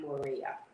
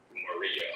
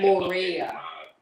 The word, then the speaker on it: Morea: I am Morea. Marie. Morea. Yeah. Maria. Okay. Morea. Morea, like in raise.